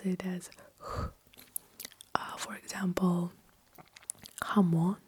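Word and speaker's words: jamón: So we just pronounce it as Uh for example Jamon. Jamon.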